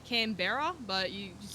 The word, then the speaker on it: Canberra: It's spelled like Canberra, but you just say Canberra.